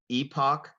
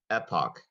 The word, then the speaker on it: epoch: waterl contestin ready yes your word has two correct pronunciations Epoch Epoch Epoch or Epoch okay e p o